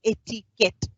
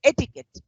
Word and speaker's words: etiquette: It is ETQUETTE, but the U and E doesn't come while pronouncing the word. It is not etiquette or it's not etiquette. It is simply pronounced as etiquette.